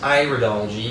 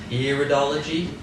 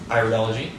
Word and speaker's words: iridology: English it's often pronounced iridology but in English American English we say iridology because we're looking at the iris and other languages Iris